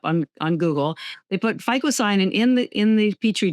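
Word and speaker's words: phycocyanin: Now there's a pigment in spirulina called ficoyanin and it has been proven to kill cancer cells.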